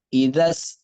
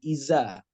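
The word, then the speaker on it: إذا: Idza, za-nya ingat. Idza, jangan iza. Ya, jangan iza bacanya. Tapi idza, ya. Kalau kita bacanya iza, beda lagi nanti.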